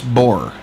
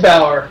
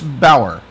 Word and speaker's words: Baur: His name is Bor. Is that is that did I pronounce that correctly? With Jack. It's Bower. You're close. Ah, okay. Bower.